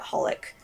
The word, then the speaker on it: HOLiC: It's spelt very weirdly. It's kind of spelt as like XXX Holic, but you just call it Holic.